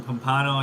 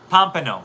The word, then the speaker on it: Pompano: Counseling mom used to live in Pompano. You're killing me with your pronunciation. Pompano. Sorry, Pompano. Pompano.